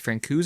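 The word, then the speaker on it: Francouz: up franco's they've it's i've heard it pronounced francoise and franco's i think france franco's is better but i'm gonna always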